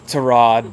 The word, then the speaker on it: Tyrod: How are you pronouncing Tyrod? It's Tyrod, but I call him Ty, so I guess I'm doing it wrong.